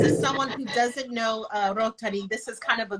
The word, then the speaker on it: Rotari: So for those of you just tuning in, today we're discussing Trentodoc, and I keep pronouncing it like it's Spanish, it's Rotari.